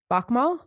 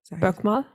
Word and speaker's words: Bokmål: One is called Bokmål. Bokmål?